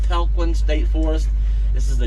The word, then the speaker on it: Talquin: is lake lake talquin i believe it is pronounced lake falcon state forest this is